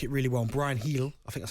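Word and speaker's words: Bryan Gil: And Brian Heel, I think that's how you say his name. Brian Heel, that's how you pronounce it. You don't say Gill? No, it's Hill.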